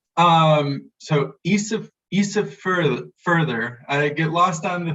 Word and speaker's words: Ísafjörður: It's a to pronounce because the D sounding letter, which is the Icelandic letter eth, it's like a D with a little line through it. That's pronounced there, like a TH sound.